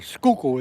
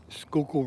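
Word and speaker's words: Schuylkill: That ain't how you spell it. The Skoo River. Skook is su Y L K I L. Skook River.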